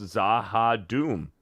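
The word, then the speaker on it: Z'ha'dum: a Babylon five fan zaha Doom is pronounced zaha Doom thank you uh Hercules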